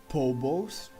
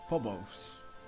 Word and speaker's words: Pobos: my monster taming project Pobos. Am I pronouncing right? Pobos? I think it's catchy. Sounds funny. Pobos. But just confirm to me please if I'm pronouncing it right. Like Pob and the Bows.